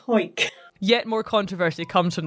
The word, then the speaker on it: Hawick: Now, some people pronounce it Howick, but a quick Google has taught me that people from Hawick tend to call it Hawick.